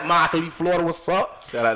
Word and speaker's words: Immokalee: are from Immokalee, Florida, Immokalee. You know what I'm saying? We spell that shit with an I, but we pronounce that shit without it. Immokalee, Florida, what's up?